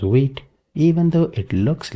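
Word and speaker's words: Vite: First, you can see it is using wheat here and this is pronounced wheat. Even though it looks like white, but it is pronounced as wheat.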